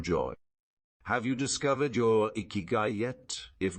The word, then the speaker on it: ikigai: people of Okinawa pursue their iigi pronounced iigi which translates to reason